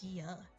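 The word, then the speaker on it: Diya: It's even more like it if you say your name wrong, like D-I instead of Dia.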